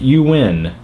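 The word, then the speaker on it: Nguyen: Last name is pronounced You Win.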